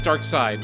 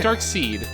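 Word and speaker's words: Darkseid: okay one of that's Dark Side never mind yeah is it dark seed no it's dark it's dark it's pronounced dark side but it's uh se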